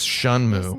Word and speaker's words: Shenmue: you pronounce han you pinyin romanized chinese you pronounce shenmue as shunmu nothing to be scared so the fact that